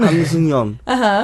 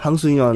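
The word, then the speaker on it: 한승연: Han Seung-yeon. Han Seung-yeon. It's she's really in a hard for him to small- pronounce that, though.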